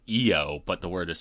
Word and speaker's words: Io: Jers and booze to Cameron uh it's actually pronounced eio but the word is spelled i o so it's EO saturnalia not low satalia for shame camera that's um yeah I